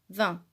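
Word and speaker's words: vingt: 18 19 et 20 il y a deux lettres muettes dans le nombre 20 c la lettre g hélas les traiter ces deux lettres ne se prononcent pas ce sont des lettres muettes vint alors avec moi tous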